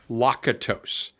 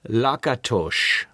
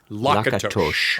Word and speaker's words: Lakatos: All right, I'm going to go phonetically, which I'm telling you right now I know is wrong. Okay. So, don't poke me in the eye through Zoom. Okay. Imre Lakatos. Now, tell me how it should be pronounced. If I am hearing my grandmother, Imre Lakatos.